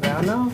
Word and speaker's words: Werner: And it is my distinct pleasure to introduce you to Julia Werner, or Julia Werner, how you pronounce it in German.